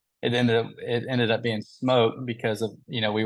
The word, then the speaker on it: Smoak: oh yeah yeah so a lot of people they they they call us the Smoke House smoke like Smo K town but it's always misspelled and we always get asked you know why it's spelled that way but it's just it's with the oak we use Oak and pecans so and it wasn't